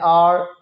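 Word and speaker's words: hour: इसी तरह एन आर, अब यहाँ पे एच है लेकिन एच साइलेंट है।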